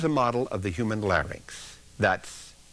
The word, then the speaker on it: larynx: a jigs here's a model of the human larynx that's l a r y n n x sometimes mispronounce LX look at it carefully it's Linx